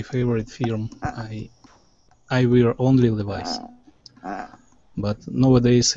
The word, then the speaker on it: Levi's: or Levis or Ah, Levi's? How do you pronounce it? in English we call it Levi's.